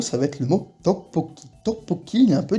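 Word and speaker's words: 떡볶이: Donc je vous le reprononce, tteokbokki, tteokbokki.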